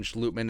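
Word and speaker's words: Schlottmann: it's chris reed or austin schlutman it's the dutch pronunciation don't care if they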